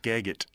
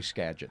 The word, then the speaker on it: Skagit: it's a little easier it's just Skagit GPSS geget yeah but you don't want to pronounce that it's you know you want to got to do Skagit that's later they immediately